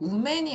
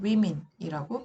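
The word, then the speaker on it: women: 그 다음에이 여자의 복수형 여기서 발음도 많이 틀리죠 우맨이 아니라 위 미니예요 발음교 상으로 이건 이제 스펠링이 아니라 발음교에요 내 친구들이 잘 모를 수 있으니까 일단 한국어로 적어볼게요 위민이라고 발음해야 돼요 try children foot Fit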